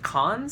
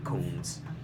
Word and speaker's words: cons: And your pronunciation of cons sounded like cones. So just be careful with pros and cons. Cons rather than cones.